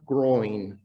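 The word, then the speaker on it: groyne: come across it before i understand that it's pronounced groin and and what a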